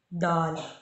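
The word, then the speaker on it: دال: ठीक है, दाल का साउंड आता है दाल, जो हम दाल कहते हैं ना, जो दाल बनाते हैं उस तरह से।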